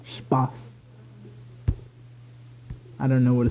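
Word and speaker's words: Spaß: the number which besides being German for fun pronounced Spas I don't know what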